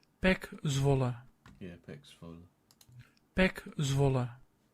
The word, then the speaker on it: Zwolle: I presume I'm pronouncing Zvola right. PEC Zwolle.